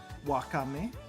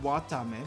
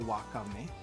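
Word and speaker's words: わかめ: insulted about when it's technically correct wakame not watame but wakame difficult oh yeah this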